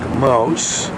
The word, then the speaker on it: Maus: That is called Burg Maus, like a mouse.